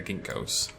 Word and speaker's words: ginkgo: And then surround it with the ginkgos. Gink. It's a hard word to say. Ginkgo. It's not ginkgo. It's a gink. Gink-go. Gink-go. Gink-go.